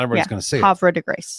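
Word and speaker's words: Havre de Grace: Hav to grace. There you go. Havra de Grace.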